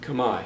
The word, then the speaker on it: Khmer: Khmer, which is spelled Khmer, but pronounced Khmer.